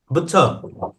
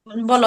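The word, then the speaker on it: ب: বলো, এখন তুমি বলো। আলিফ জিমাম বলো। আলিফ মাশাআল্লাহ। এরপরে দেখো বা। বা এই যে মুখ আমাদের বন্ধ ঠোঁট করে কয়টা বলো তো?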